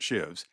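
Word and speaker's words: sheave: of ropes running over patent shaves always pronounced shivs and finally let go and all went ringing forward.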